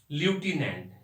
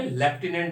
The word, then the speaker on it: lieutenant: LIEUTENANT, इसका correct spelling है ल्यूटिनेंट। इसको हम लोग अपने इंडिया में लेफ्टिनेंट बोलते हैं, क्योंकि हम इंडियंस कट कॉपी पेस्ट में बेस्ट है सारे कंट्री के लोगों से।